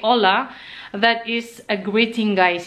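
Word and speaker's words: hola: they pronounce it as aa the H is silent for them so Once they say aa that is a greeting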